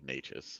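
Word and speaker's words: Nečas: I've been calling him Necas for so long that it's hard to break the habit, but it is supposed to be Necas.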